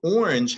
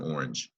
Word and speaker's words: orange: good good good so orange has a soft G sound judge a job because